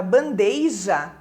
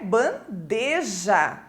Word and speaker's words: bandeja: ortoépia né Por exemplo se uma pessoa normalmente falar a palavra bandeija colocando esse I depois do e né quando ela for escrever com certeza ela vai acabar escrevendo de forma errada né sendo que o correto é bandeja e já em relação a